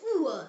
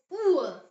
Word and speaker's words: Uhr: And U pronounced as U like the U in the English word moon. Example word is Uhr. Say it. Uhr.